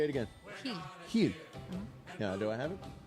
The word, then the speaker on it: Gil: Heel. Say it again. Heel.